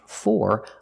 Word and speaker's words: for: there for you but if four is at the end then it is stressed example who are the flowers for because four is at the end of the sentence it is stressed and it's pronounced for like more and floor or for who are the flowers